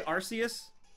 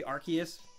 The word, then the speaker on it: Arceus: I say it well I always say Arceus but apparently I'm wrong it should be Arceus because you're not supposed to say arse because like the the